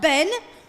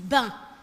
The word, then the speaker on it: ben: So it's not ben, okay? Americans say, is that ben? No, there's no ben. It's ben.